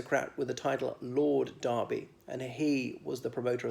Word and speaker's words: Derby: a horse race like a derby the kentucky derby now we have them as well we pronounced it a derby now there is a